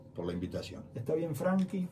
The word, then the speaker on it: Franchi: la invitación está bien Franky franchi cómo le correctamente bien dicho Franky no nos animamos nosotros a decir Franky porque si no se escribe lo castellanizado hace mucho tiempo bien pero la gente le dice franchis no sí comúnmente si nosotros mismos nos decimos franchis por las dudas No